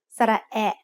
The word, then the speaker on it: สระแอ: The sound of สระแอะ and สระแอ is like the A in cat.